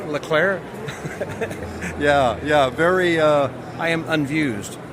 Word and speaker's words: Leclerc: when he said, when John was introduced him as Eric Leclerc, and he said, no, the C is silent, so it's Ari Leclerc.